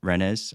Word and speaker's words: Rennes: And so if you look at the 2-0 win versus Rennes, I don't know if I'm saying it right, Rennes, and then Ren, sorry.